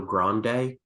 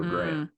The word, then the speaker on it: Grande: For some strange reason, I thought it was Good Luck Leo Grande because of how it's spelled, but it's Leo Grande.